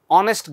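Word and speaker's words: honest: আবার দেখো, এখানে এইচ দিয়ে শুরু হয়েছে, শি ইজ অনেস্ট গার্ল। যদিও এইচ দিয়ে শুরু হয়েছে কিন্তু উচ্চারণটা শুরু হয়েছে ও থেকে, তার মানে এটাও একটা ভাওয়েল সাউন্ড।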